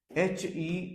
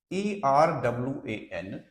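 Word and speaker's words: héroïne: Another word, HEROINE. If you pronounce it in French, rule is there that OI is pronounced like WA and H remains silent wherever it occurs.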